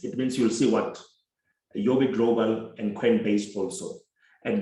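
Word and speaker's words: Huobi: Some people call it Hobby. So I've learned that they pronounce this as an Asian platform. They pronounce that H as Y. So it's Yobi Global.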